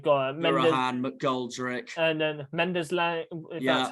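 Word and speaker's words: Mendez-Laing: They've got Collins, and then they've got Mirahan, McGoldrick, and then Mendes Lang.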